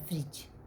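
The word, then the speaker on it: fridge: लिए करते हैं फ्रिज इसमें भी जी के पहले डी है तो ये साइलेंट है उच्चारण से एफ आर आई जी का हो रहा है फ्रिज थर्ड टॉपिक है बजट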